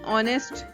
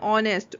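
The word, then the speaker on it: honest: के साथ होता है जैसे की ऑनेस्ट हा ओ एन ए एस टी ओंस होता है बट इसमें हा साइलेंट होता है हम इसको क्या पढ़ने हैं ऑनेस्ट ओ से स्टार्ट हो करते हैं तो इसलिए इसके पहले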